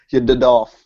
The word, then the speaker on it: YDDLS: I always say Yadolf is how I say it. Like I don't say that. It's like Yadolf is how I say it.